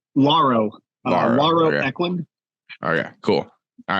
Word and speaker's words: Lauro: um it's a dude pronouncing your name is it Laro or Laro or Laura whatever uh lauro um oh yeah cool